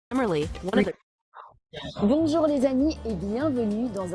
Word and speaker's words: bonjour: Pour prononcer on, commencez par dire O, puis ajoutez le son N en l'allongeant et en le fredonnant.